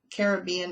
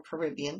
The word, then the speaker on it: Caribbean: Gully Washer is by Carissa Browning, and Caribbean Escape, or Caribbean, depends on how you say it, is by Jennifer Dickerson.